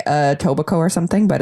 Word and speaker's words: Etobicoke: and then you don't pronounce the K.